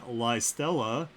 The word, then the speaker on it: Lustella: Number 1 is, I'm really sorry if I say these names wrong, Bulhan and Lustella, pronounced, oh crap, you put the pronunciation in, pronounced Belian and Lystella, or Bellion.